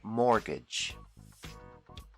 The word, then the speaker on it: mortgage: call this loan a mortgage the t is silent mortgage another common loan is